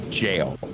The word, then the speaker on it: gaol: Don't let the spelling fool you. It's an Old English spelling. It'll be Gaol. It is still actually pronounced jail.